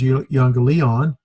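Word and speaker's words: εὐαγγέλιον: You, on, li, on. Euangelion. Emphasis here. Euangelion.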